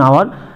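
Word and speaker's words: hour: আওয়ার যে ওয়ার্ডটা, আওয়ার, H consonant কিন্তু ভাওয়েলের মতো উচ্চারণ হচ্ছে, আর মতো উচ্চারণ হচ্ছে, আওয়ার, তাই তো, তাহলে ভাওয়েল, তাহলে আগে এ হবে না, অ্যান হবে, এ আছে তাহলে এ তুলে দিয়ে অ্যান করবো, অ্যান আওয়ার।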